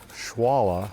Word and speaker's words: Xualla: It's spelled various ways, most often Joara, which in Spanish might have been pronounced Juara, but it's also spelled Xualla, which would be pronounced Schwala.